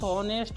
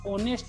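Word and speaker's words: honest: उच्चारण शब्द यहाँ पर ऑनेस्ट इसको पढ़ते हैं दोनों दोस्तों यहाँ पर। और हाई ये क्या एक्चुअली ये साइलेंट है, अगर साइलेंट नहीं होता तो होनेस्ट होता, लेकिन इसको पढ़ते हैं ऑनेस्ट पढ़ते हैं, ऑनेस्ट में नहीं किया जाता।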